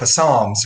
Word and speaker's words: Psalms: He said, well, tomorrow I think I'm going to read the book of Psalms or something. I said, yeah, the P is silent, but cool guy.